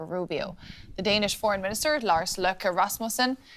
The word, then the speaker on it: Lars Løkke: The Danish Foreign Minister, Lars Løkke Rasmussen, said the two sides had agreed to create a working group to discuss ways to address Americans.